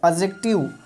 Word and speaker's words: adjective: देखो बहुत लोग एडजेक्टिव पढ़ता है, एडजेक्टिव नहीं होता है, डी साइलेंट होता है, एडजेक्टिव।